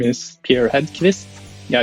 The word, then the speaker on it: Hedkvist: thanks for having me my name is Pierre radkivis yeah it's a Swedish last name so it looks like it's hard to pronounce maybe but yeah I've been a developer